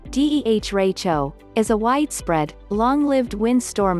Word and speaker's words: derecho: prediction center said monday a deracho pronounced similar to deh racho is a widespread long-lived